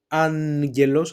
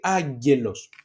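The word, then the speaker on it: άγγελος: You can either pronounce it as angelos, I put a slightly ni or in the middle between the alpha and the diphthong, or you can say agelos, the same thing.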